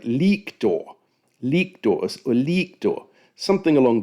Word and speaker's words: lictor: the guy's name is lictor, based on the discussion saying, "Well, in fact, the Latin has a long vowel sound at the start.